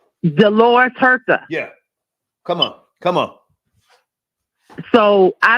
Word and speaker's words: Dolores Huerta: Dolores Huerta.